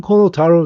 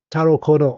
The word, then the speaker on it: Kono Taro: I call him Kono Taro now because I called him Taro Kono on Twitter, and he personally addressed me, and he basically did the Muhammad Ali. He said, say my name. It's Kono Taro. Call me that.